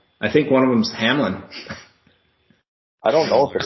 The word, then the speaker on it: Hamlin: But so I think Hamler's doing better, but still in critical condition, right? His name's Hamlin, Drew. His name's Hamlin. Say his name. Oh, I thought it was the Bronco Hamler.